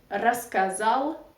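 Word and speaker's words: рассказал: so you can say masculine raskazal because of Russian reduction law of course one stressed you pronounce like ah and then plural raskazali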